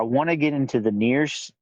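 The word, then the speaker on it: NieR: to get into the near the near series which is n i r so um there's near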